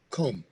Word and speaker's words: comb: reader you knew that comb same thing do you pronounce the b no what's the rule what's